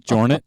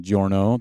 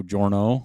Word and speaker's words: Jornet: But, obviously his last name's not Jornet, so I can't use Hornet. So it'd be Killian Jorno. Then I'd have to say, Killian the Horno Jorno, which doesn't sound so good.